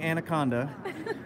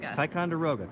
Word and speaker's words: Ticonderoga: Dixon Ticonderoga Ticonderoga okay I keep saying anaconda I keep saying the wrong thing so I keep saying okay how do you say it correctly I can say Dixon find no problem it's Ticonderoga Ticonderoga icon there we go